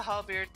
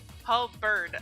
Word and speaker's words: halberd: of the hall beard became or becomes useless sorry Paul bird actually I don't know why I've been pronouncing it wrong but yeah I don't know why I read it with an A in there somewhere the monks eyes